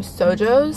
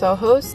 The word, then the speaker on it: SOJOS: them by the name sojos I actually learned that it's pronounced soos because it's inspired by Spanish words and ohos means eyes